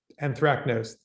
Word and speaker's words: anthracnose: a uh i'm not sure i'm going to pronounce there at the school of fungus without produces a disease called anthro anthropanthrin anthracnose there we go i thought he's gonna spit